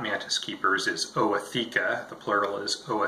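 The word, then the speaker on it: ootheca: of you who are not Mantis keepers is Oh a theca the plural is Oh a CC quick point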